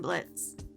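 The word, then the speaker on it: Blitzø: His horns were way bigger than Blitz. Speaking of continuity, looking at the subtitles, we see that in the past, Blitz's name is spelled as Blitz-Ø, but presently the O is slashed out since it's silent.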